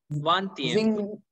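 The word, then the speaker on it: vingtième: Vanthium. Vanthium. Yeah, do not pronounce that G there.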